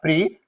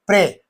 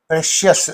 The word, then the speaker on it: precious: They say no, it's not pre, pray. Precious, you have to say.